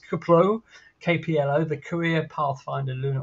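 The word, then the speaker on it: KPLO: 2030s um that's a little more of an unpronounceable acronym it's kaplow kpl the career Pathfinder lunar orbiter uh UAE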